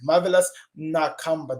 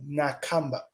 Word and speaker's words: Marvelous Nakamba: Marvelous Nakamba. That's how you pronounce it, people. He's my homemate. I know him. Marvelous Nakamba. You hear me? Nakamba.